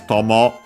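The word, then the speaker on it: 友: technically, strictly speaking, combines Tomo, actually the accent is on the first one, which already means friend, companion, and so on.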